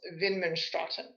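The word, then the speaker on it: Widmanstätten: me these are called windmin statin lions named after the austrian scientist who first discovered them and if you were german speaking that would be pronounced vin menstruatin these lines are formed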